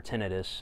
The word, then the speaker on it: tinnitus: hearing protection um and I now have tenius um or tenus as it's technically pronounced um so in